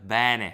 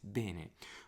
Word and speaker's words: bene: Sometimes I do the bene. I do it too open. It's bene. Non conosco molto bene.